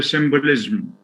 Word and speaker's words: symbolism: it's i i mean the suffix is ism but it's ism so there is a schwa in pronunciation and transcription there is the schwa after the sound symbolism classicism cynicism religionism